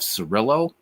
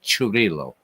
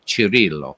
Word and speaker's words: Cirillo: Now, everybody says it's Jeff Cirillo, but actually, if you say it in Italian, it's Cirillo. But we'll say Cirillo for all the Americans out there, all right? But it is actually Cirillo is how you say his name.